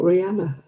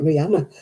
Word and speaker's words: Rihanna: I pronounce it Rihanna because that's the Welsh way of spelling it. It's Welsh, isn't it, Rihanna?